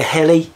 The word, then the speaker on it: Heli: very nice tiger heli rhymes with smelly I I don't know